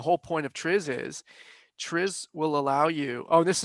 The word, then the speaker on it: TRIZ: Is it trees or is it TRIZ? Triz. Triz. The TRIZ. Okay. I looked it up. The Russians pronounce it Triz, and it's their language.